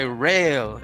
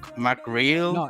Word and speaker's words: McRel: yeah that's yeah real just say real like really real real nice and how do you say your your your your name fontano is that it's is it mac mcreal like mac miller or what m.c rail yeah the nwa dude the